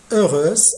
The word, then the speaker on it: heureuse: Avant de devenir toute heureuse, alors H ici de heureuse, c'est un H muet, alors pas d'accord.